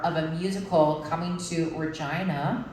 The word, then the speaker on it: Regina: a musical coming to Regina which is the big city in Saskatchewan rhymes with fun um um and it